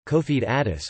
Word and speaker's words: Confederados: the Confederate owes Portuguese pronunciation cofee Dadis were some 10,000 to